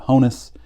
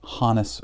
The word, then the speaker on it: Honus: also known as Honis Wagner and most people pronounce it Honus I have been assured that it was hanis Wagner in fact if you go to baseball reference I think it is pronounced there as hanis uh he says that that Wagner is worth